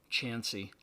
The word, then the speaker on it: Chancey: You can find him at Rodger, and that's spelled R-O-D, D as in dog, G-E-R, Chancey, like chance with a Y.